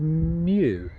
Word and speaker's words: Meaux: the week weend we're in a town called Mew I think it's pronounced uh absolute pain to